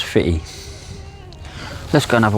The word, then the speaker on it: Footdee: It's It's a place called Foot D, locally pronounced as Fitty.